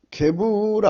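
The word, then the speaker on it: גבורה: 하지만 오늘 본문 우리는 게부라 합니다. 게부라, 발음은 게부라고요.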